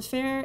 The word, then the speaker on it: Fair: design practice fair type the fair is pronounced the same as fair in English and in French fair